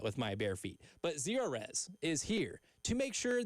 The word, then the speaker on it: Zerorez: And remember, Zerorez, like zero residue, spell it backwards or forwards, it's the right way to clean.